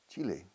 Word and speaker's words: Chile: Chile. El país Chile. No. Chile is a country, yes. But the pronunciation is identical.